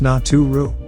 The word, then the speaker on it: Neteru: programming ruling Spirit beings this term netaru or properly nature pronounced not too Rue although better than God